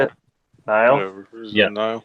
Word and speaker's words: Nile: Last one I went to was Dying Fetus, and they had Immolation, Rivers of Nil, I think is how you say it. Nile. Yeah. Nile. It's spelt weird, so it kind of makes me